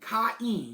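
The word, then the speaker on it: Kain: k I uh K I um I N Ken like that Ken i n sounds like e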